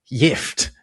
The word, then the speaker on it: gift: In German and Swedish, the word gift or gift, as it's pronounced in Swedish, means not something pleasant you give someone, but poison.